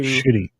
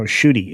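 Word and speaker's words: Ncuti Gatwa: Shitty. Shitty? Did you say shitty? Shitty. Shitty Gatwa? No, shooty. It's shooty. Shooty Gatwa. Shooty. I heard Okay. shitty. I was like, Shooty.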